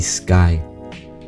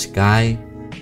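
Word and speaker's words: Skie: The new channel name is going to be Sky. It's pronounced Sky, but spelled S-K-I-E.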